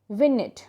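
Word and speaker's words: vignette: of something it's called विनेट विनेट बेटा इसमें जी silent रहेगा ओके सो विनेट व आई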